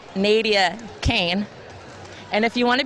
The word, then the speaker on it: Naevia Cain: your real name well my real name is spelled but it's Naevia Cain and if you want